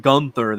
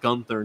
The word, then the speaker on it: Gunther: Champion oh my God gther actually he he pronounces it Gunther that's how you're supposed to pronounce it actually Gunther not the only reason why people say Gunther is because of how uh the aring announcer